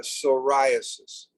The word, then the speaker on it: psoriasis: ones right away psoriasis psoriasis starts with a p but it's uh psoriasis what is psoriasis well